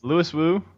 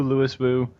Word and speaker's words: Louis Wu: Louis Wu. Or Louis Wu. Still get it wrong. Holy crap. Said. I hear a lot of people say Louis Wu, but Louis Wu, Louis Wu.